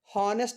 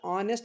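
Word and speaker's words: honest: ನಾನು ಪ್ರೊನೌನ್ಸಿಯೇಷನ್ ಮಾಡ್ತಾ ಇದೀನಿ ಹಾನೆಸ್ಟ್ ಅಂತ ಪ್ರೊನೌನ್ಸ್ ಮಾಡ್ತಾ ಇಲ್ಲ ಆನೆಸ್ಟ್ ಅಂತ ಪ್ರೊನೌನ್ಸ್ ಮಾಡ್ತಾ ಇದೀನಿ ಸೋ ಆನೆಸ್ಟ್ ಅಂತ ಪ್ರೊನೌನ್ಸ್ ಮಾಡಿದಾಗ ಎ ಅನ್ನುವಂತ ಶಬ್ದ ಬರೋದ್ರಿಂದ ಓವೆಲ್ಸ್ ಎ ಅನ್ನೋದು ಒಂದು ಓವೆಲ್ ಅಲ್ಲ ಸೋ ಎ ಅನ್ನುವಂತ ಶಬ್ದ ಉಚ್ಚಾರಣೆ ಆಗೋದ್ರಿಂದ ಅಲ್ಲಿ ನಾನು ಆನ್ ಅಂತಕಂತದ್ದನ್ನ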